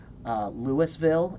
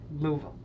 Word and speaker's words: Louisville: God what is that Louisville in Kentucky Louisville is Louisville that's actually how it's pronounced Louisville nope its Louisville fight me good when Tibet so